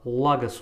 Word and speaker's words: Лагос: Кстати, я посмотрел, Лагос у нас ударение на А, и вроде бы все остальное я более или менее называл правильно.